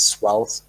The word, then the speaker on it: Svelte: But yeah, now I know that the right pronunciation is Svelte.